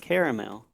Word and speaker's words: caramel: Well, why don't you pronounce the A after the R in caramel? Because it's caramel, and that A is silent.